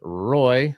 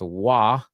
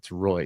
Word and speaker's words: Roy: Box Elder, Clearfield, Northridge, Roy, not pronounced Wah, as a Colorado Avalanche not fan. I've learned that it's Roy here, not like the famed goalie.